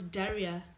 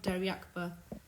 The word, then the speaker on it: Daria: wrong Daria a oh it's Daria not deraka what am I talking